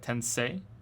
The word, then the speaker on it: Tensei: Say tensei. Not c tensei.